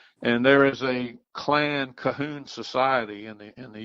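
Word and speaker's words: Colquhoun: will spell co l qu h oun but pronounce Cahoon and there is a clan Cahoon society in the in the US and internationally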